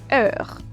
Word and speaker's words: heure: For instance, when you put it in a phrase here, it will give you heure. Them being put together will create one and only vowel.